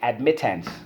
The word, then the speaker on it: admittance: in without a mask admittance let's go ad MIT ants sorry hands we use admittance ad MIT tanks admittance okay so how do we